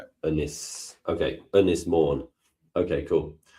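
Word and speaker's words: Ynys Môn: Anis mourn.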